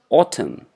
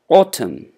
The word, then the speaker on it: autumn: one of the seasons we call it autumn n is silent so we pronounce it autumn autumn all right this is